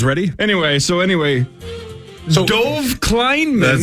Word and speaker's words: Kleinman: a an which is I'm laughing because you called him kleinan there's no n until the end of Kleinman kleinan all right you guys ready anyway so anyway Dove Kleinman said what he tweeted